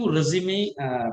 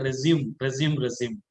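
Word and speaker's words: résumé: All right, so let's welcome to the session, effective resume building. So before we proceed that, most of the people are saying that resume. Actually, it has to be pronounced as resume.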